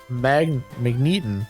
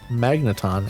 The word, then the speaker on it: Magneton: Magneeton. Magneton. Actually, why did I say magneeton? That's absolutely not how you pronounce that.